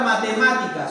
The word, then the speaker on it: matemáticas: Por ejemplo, la palabra matemáticas, ¿cómo sería? Matemáticas, ¿correcto? ¿Dónde está la mayor fuerza de voz? Profe, en la sílaba ma, ¿correcto?